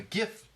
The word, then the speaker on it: GIF: creator of it says it's a hard G it stamped the G stands for graphics but we need to do this and jiff needs more marketing so